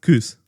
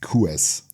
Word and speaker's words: Kuess: Um, actually actually my name is pronounced Kuz. Yeah. Is it? Yeah. But so many of the the German bodybuilding scene and stuff are calling me Kous.